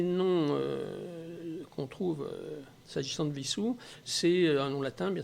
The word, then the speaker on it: Wissous: seule chose c'est que normalement si on est fidèle à l'histoire de la commune on devrait pas prononcer vie sous serre avec le w l'allemande mais on devrait prononcer wissous avec le w à